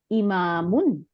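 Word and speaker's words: إِمَامٌ: হয় তাই না তাইলে হামজা জের ই মিম আলিফ জবর আর মিম দুই পেশ ইমামুন হ্যাঁ হচ্ছে ইমাম সাহেব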